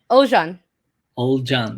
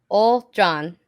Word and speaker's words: Ogulcan: so sorry old john old john yeah old john it's like it's like o h l and john old john yeah old john old